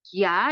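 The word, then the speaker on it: 加: Lalu, Jia di sini bacanya adalah Jia, itu artinya adalah ditambah.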